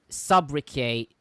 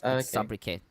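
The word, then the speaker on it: sobriquet: and the people in general M his what subri s o b r i q u e t that's how it is pronounced oh and I I I know that's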